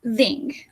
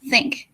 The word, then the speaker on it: think: This one is voiceless. It means that it doesn't vibrate. So we say think. We don't say thing. We say think.